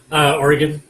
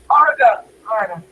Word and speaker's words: Oregon: Sorry, I pronounce it English. Oregon. Yeah, I'll give you that because you have the English accent and everything. But when people from the States pronounce it Oregon, that's fighting territory for an Oregonian. Oh, there's no A there. It's an O.